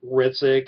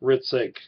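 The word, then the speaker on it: Hricik: My name is Ritzik, and you say my last name without the H, so it's spelled H-R-I-C-I-K, but you really pronounce it Ritzik.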